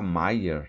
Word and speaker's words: Maier: E aí vocês viram, né, que ele não consegue pronunciar nunca Maier, né? Ele pronuncia Maia, o senhor Maia.